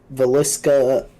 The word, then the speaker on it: Villisca: Villisca Axe Murder House is, I think, how you pronounce it. That's correct.